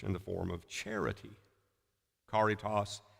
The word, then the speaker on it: caritas: the form of charity Caritas the CH in our Old English would have been pronounced like a car sound Caritas karate and eventually